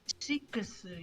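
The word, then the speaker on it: シックス: It's because it's pronounced Shikusu in Japanese.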